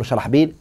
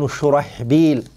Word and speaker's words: Shurahbil: But the narration of Mansur and Sulaiman ibn Mahran, they have Amr ibn Sharhbil. Naam. So the correct way to say his name, inshallah ta'ala, is Amr ibn Shurahbil.